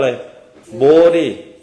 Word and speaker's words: โพธิ: เปิด ห้อง แต่ ภาษา ภาษา อังกฤษ เรา เรียก ว่า อะไร โบดิ นะ ครับ เพราะ ฉะนั้น เวลา น้อง โพธิ มา เรา เรียก น้อง โพธิ เรา ไม่ เรียก น้อง โป นะ โยม ไป ได้ นะ